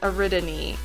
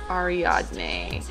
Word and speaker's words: Ariadne: spell that name and I had been misreading it this whole time. It's actually spelt like Ariadne. Ariadne? Yeah. But I've been pronouncing it Ariadne this whole time and